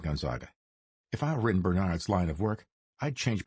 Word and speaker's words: Bernard: said Kurtz, putting the emphasis on the second syllable, the way Gonzaga had.